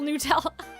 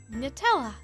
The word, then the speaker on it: Nutella: You don't double pronounce the T. It's not nut.